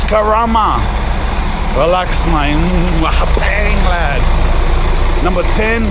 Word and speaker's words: Karama: saying a wrong mate it's not Kama it's Karama relax manang lad number